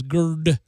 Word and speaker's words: GERD: Spike has what's pronounced as GERD, a gastroesophageal reflux condition that has threatened his life 3 times.